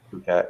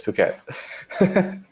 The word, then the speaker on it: Phuket: in Thailand who has they don't pronounce the pH okay the same way we did yeah people say fruit cat I think I was pronouncing it Phuket and then somebody was